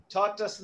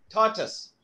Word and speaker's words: tortoise: I will pronounce the way it should be. Tortoise. Tortoise nu parayan endu aama aama kareyama le turtle nu paranjalo kadalama. So I want kareyama. Tortoise.